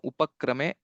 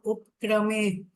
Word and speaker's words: उपक्रमे: Sarvarthanam upakrame, pa has to be pronounced fully. Yannatva kritakrityasyuhu, there's a dirgha that has to be recited correctly. So these are the 2 points. Sarvarthanam upkrame.